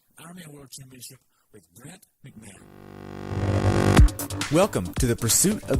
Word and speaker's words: McMahon: McMahon.